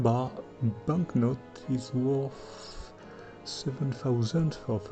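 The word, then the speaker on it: birr: My 1 bar banknote is worth 7,000 of an euro. It's written B-I-R-R but pronounced as B-U-H, Ba.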